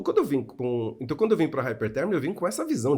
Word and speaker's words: Hypertherm: Então, o M no final é mudo. Então é Hypertherm, né?